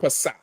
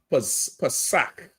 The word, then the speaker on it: Pesach: Pesach is Passover, like Kazakh or Kamawar. It's not K. It's that K sound. What somebody who is uneducated would say ch. They would say cha, right? Because they're uneducated. It's K. Pesach.